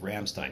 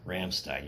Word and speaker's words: Rammstein: some it's all about how you roll the are you got to roll it it's like Rammstein you don't say Rammstein you'll say Rammstein is a Rammstein you have to roll the artists say it properly anyway yeah this comes